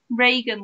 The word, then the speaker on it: Reagan: my name right anyways it's rean pronounced like Ronald Regan's name like I've Reagan then Reagan so oh we've